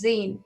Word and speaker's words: zine: asking the wrong magazine it's magazine so i think it's zine okay i'm sure he's